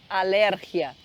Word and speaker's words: alergia: tem alergia algum medicamento só que alergia aqui eles falam com o a tônica da palavra em outro em outra sílaba então eles falam alérgia Ten alérgia alérgia e